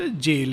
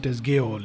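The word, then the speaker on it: gaol: this इमस material world ये spelling ji ए ओ एल is also pronounce जेल एंड it means जेल दो some people pronounce गल इट इज जेल यह जो प्रकृति का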